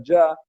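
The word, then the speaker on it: Jah: lo que existe con la palabra Yah, J-A-H, que es un diminutivo de Jehová.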